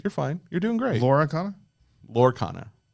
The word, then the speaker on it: Lorcana: Lorcana? Lorcana. Yes. That's what I said. 2 syllables, not 3.